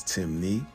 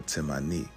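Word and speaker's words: Temne: Despite the various spelling variations, Timni only has two ways of pronouncing it, which is Timni or Timani, and this still maintains the Mani or Mini suffix, showing further indication that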